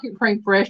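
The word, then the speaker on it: crème fraîche: Well, it's called cream fresh, but it's spelled Fraiche.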